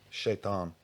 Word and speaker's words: شيطان: shaitan.